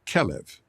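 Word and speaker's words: כלב: word for dog is calev okay as Hebrew has no vowels the word is actually spelled klv those three letters can also be pronounced as kalev which means like the heart no I don't believe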